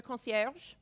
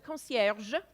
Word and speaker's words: concierge: apartment where there's a concierge the most important thing to know is you always pronounce the G it's always a concierge never concierge and it's a really